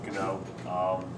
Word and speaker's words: GNO: GNO, I pronounce it GNO. You can also pronounce it GNO. The G can be silent. I tend to pronounce a harder G just so it's understood. Being GNO.